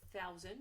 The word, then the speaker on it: thousand: J'en profite d'ailleurs pour faire une petite remarque sur la prononciation de thousand. Ça s'écrit OU au milieu, comme si c'était écrit tout, sauf que ça se prononce bien OW.